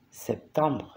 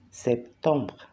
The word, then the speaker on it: septembre: Septiembre es septembre, septembre, septembre. La última no se pronuncia. Y ton es nasal, septembre.